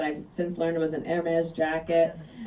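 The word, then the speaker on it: Hermès: since learned was an AES jacket I didn't even know how to pronounce that by the way when I left the White House I called it Hermes I I just I had no idea and so people keep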